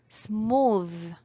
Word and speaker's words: smooth: a big mistake because this word goes with the sound th phoneme. Smooth.